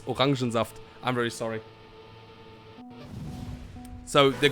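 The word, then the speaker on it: Orangensaft: map called orange aft i say it in german it's organzaft i'm very sorry so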